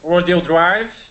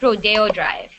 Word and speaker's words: Rodeo Drive: Diego Pier um uh R Hills M uh rodo Drive Rodeo it's pronounced Rodeo Drive rodo Drive yeah uh Universal Studios M um